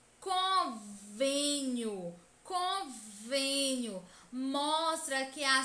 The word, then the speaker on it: convênio: na palavra cor veninho o acento circunflexo indica que a penúltima sílaba é a sílaba tônica é a sílaba mais intensa e mostra também que a pronúncia desta sílaba deve ser fechada com sol para dentro convênio com venho mostra